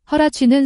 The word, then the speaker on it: Huarache: 여기서 웨링은 입다, 베기스는 헐렁한 바지, 허라치는 샌프란시스코에 본사를 둔 후아라체라는 신발회사인데 허라치는 후아라체의 영어 발음입니다. 그럼 노래를 들어보시겠습니다. You see him wearing their baggy, Huarache sandals do.